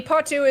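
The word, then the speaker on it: potoo: so in conclusion the patu is terrifying all right don't look it up uh it will haunt your nightmares yeah yeah two birds it's spelled p-o-t-o-o like yeah potu oh phase only 3890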